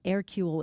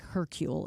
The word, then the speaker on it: Hercule: Um, again, airule. It looks like hercule is if you're not pronouncing it according to the way you're supposed to in French.